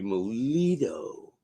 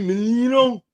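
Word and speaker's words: Milito: It's Louis Melito, not Louis Menino.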